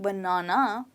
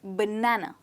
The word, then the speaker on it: banana: one banana for breakfast so it's not banana but banana try it again banana perfect